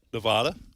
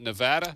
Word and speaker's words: Nevada: Nevada, how do you guys pronounce that? Nevada. Not Nevada? Just like you did.